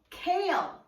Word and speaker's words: kale: year it is called kale kale is spelled k a l e however it does sound like two syllables when we pronounce it k o kale kale